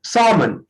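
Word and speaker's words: salmon: ये एक फिश होती है, इसको बहुत से लोग सालमन बोलते हैं, बट ये इसको सालमन नहीं, एल साइलेंट, सालमन।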